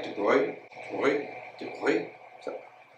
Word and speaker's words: de Broglie: I think most Americans say de Broglie, but sure, he's French and you definitely would not say it like de Broglie. It's more like de Broglie.